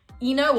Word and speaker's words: Ino: A sea nymph called Ino or I know, it's spelled like this, but either way.